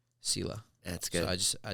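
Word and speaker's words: сила: how it's spelled but it's in Russian it's pronounced uh Sila Sila that's good I just I just put an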